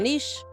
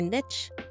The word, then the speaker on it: niche: that's not too bad choose your Niche or Niche depending on how you want to pronounce it I switch back and forth depending on the context honestly choose a niche